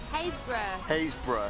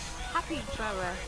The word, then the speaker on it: Happisburgh: What's it called again? Haysborough Lighthouse. But it's spelled happiness. Happysborough.